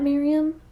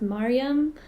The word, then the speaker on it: Maryam: funny thing is that that's just not even how my name is pronounced uh my my name is supposed to be pronounced maryam or marianne but in our culture